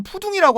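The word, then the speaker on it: 浦东: 이 동방명주탑을 소개하기 전에 푸동지구에 대해서 잠시 그 설명을 하면 그 황푸광을 기준으로 동쪽 지역을 푸둥이라고 합니다. 예. 이제 그 중국 발음 푸둥이죠.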